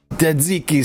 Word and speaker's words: Tzatziki: Tzatziki sauce. It is easier to pronounce and make than it is to spell.